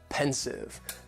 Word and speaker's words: pensive: Next is pensive. And the pronunciation, very easy, just 2 syllables, and the stress is on that first syllable. Pensive, pensive.